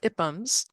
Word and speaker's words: IPUMS: So yeah, I'm talking about IPUMs. That's how it's pronounced.